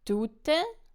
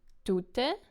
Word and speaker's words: tute: So what happens here is tute, the person, is stressed on the first syllable. Tute, tute. And the second one, woman, is stressed on the second syllable.